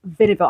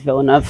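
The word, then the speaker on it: Villeneuve: So 3 years later we find ourselves in a very similar situation again with instead it's with Schumaca vers Vibville. And I know I'm saying his name wrong and I know that's not the right way to pronounce it.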